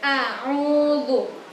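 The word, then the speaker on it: أَعُوذُ: Jadi di bacaan ta'awud itu yang pertama itu A biasa. A biasa, setelah itu baru ain. Jadi a'udzu, a'udzu. Nah, jadi alif biasa dulu, baru ain. A'udzu, seperti itu.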